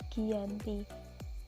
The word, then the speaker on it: Giyanti: Dalam pelafalan Belanda disebut sebagai Giyanti dan secara tertulis terbaca Giyanti.